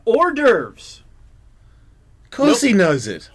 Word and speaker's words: hors d'oeuvres: Hors d'oeuvres. Of course he knows it. Horse duvers. No, he doesn't. It's spelled a really weird way.